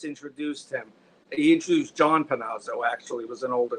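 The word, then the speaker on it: Panozzo: And I should add that Chuck Pano, Chuck Panazo, sorry to pronounce it correctly. It is Panazo because I was watching last time I checked it was I think I've been saying Panno, but it's Panazo.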